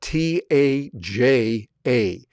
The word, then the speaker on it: Taja: That's spelled t a j a.